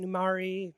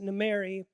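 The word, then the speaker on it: Nimeiry: So one group that took power under Jafara Numeri, I pronounce it Numari, some people pronounce it Numeri, but his regime took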